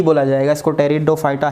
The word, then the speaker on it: टेरिडोफाइटा: ही बोला जाएगा, इसको टेरिडोफाइटा ही बोला जाएगा, और कोई दूसरा नाम इनके अंदर है नहीं। उसके अंदर पी साइलेंट है टेरिडोफाइटा के अंदर।